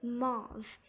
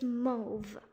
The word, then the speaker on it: mauve: mo move moth but it's actually said so as in to rhyme with the grove move go grove mouth grove so make sure the next time you say this color it's not supposed to be mauve it's move okay now the third one